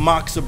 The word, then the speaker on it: Moksa: with my man Derek and Corey again from maxsa brewing I can pronounce it correctly finally you know a couple